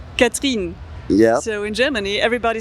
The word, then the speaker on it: Catherine: So yeah, I've got a French name, which is it's spelled like the English Catherine, but Yeah. it's said Catherine. Yeah. So in Germany, everybody says Katharina, and I was so upset with that.